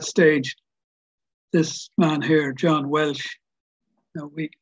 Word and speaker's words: Welsh: And by that stage, this man here, John Welsh, now we in Waterford it's called Welsh, it's not pronounced Walsh, I call him John Welsh, as everybody else in Dunmore East would call him.